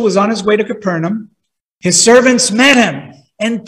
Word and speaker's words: Capernaum: left he went to capernum capernum sorry I keep pronouncing it the wrong name so while the official was on his way to Capernaum his servants met him